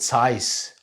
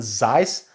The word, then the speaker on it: Zeiss: got the same glasses overhead size not Zeiss I know very well what is the German pronunciation about it it is size take it or leave